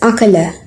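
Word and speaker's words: عقل: This Arabic word is pronounced as akala.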